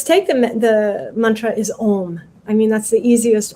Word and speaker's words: Om: containing it's very interesting when they say it in sanskrit it sounds like three separate syllables blended into one own like a-u-m um we don't have so much of a diphthong in english so we say om right o m but that